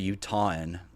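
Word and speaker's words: Utahn: law um 13 liquor F fox facts every uton that's how you say it that's how you pronounce it uton U UT hn uh let's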